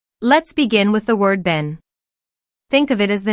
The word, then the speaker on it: Ben: It has a short e sound just like the word ten or pen. You can practice this by saying a sentence like Ben went to get a pen from the den.